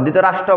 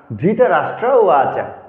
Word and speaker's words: ধৃতরাষ্ট্র: অধ্যায় অর্জনা বিষাদোগ ধৃতরাষ্ট্র ধৃতরাষ্ট্র রফলার উচ্চারণ করতে হবে ধৃতরাষ্ট্র বলা যাবে না ধৃতরাষ্ট্র এবার মূল শ্লোকে ধর্ম কষেত্রে